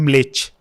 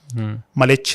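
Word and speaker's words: म्लेच्छ: जैसे जो earliest description है मलेच का, मलेच में बेसिकली जो करेक्ट प्रोनाउंसिएशन है ना वो म पूरा नहीं बोलते, आधा म बोलते हैं, मलेच, मलेच नहीं।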